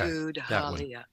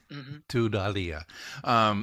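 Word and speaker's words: Tudhaliya: Pronounce it, please. Halia. Okay. Tud-Halia. Tud-Halia.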